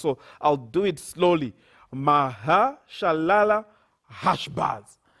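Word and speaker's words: Maher-shalal-hash-baz: This is a hard name to pronounce, so I'll do it slowly. Mahashalala Hashbaz. Mahashalala Hashbaz.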